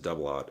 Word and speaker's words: double aught: So if you're not into firearms, like 0-0 means double aught. You pronounce it double aught.